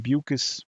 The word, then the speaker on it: Bucus: Lauren Bucus rhymes with mucus.